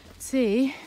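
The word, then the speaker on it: Cee: as you saw in see that's how i think you pronounce that town it's spelled c-e-e uh we still came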